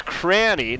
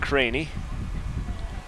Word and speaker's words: Cranny: That was Cranny, not Craney. She was using her cranium.